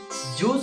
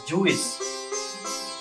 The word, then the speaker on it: juice: Juice is pronounced as juice. It is not pronounced as Jewish.